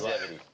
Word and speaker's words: Cellgevity: I think everyone has heard about Cellgevity. Yeah. Did I pronounce it right? Yes, exactly. You are right. It's yes. Cellgevity.